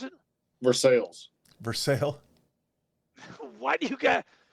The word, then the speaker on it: Versailles: How do you pronounce it? Versailles.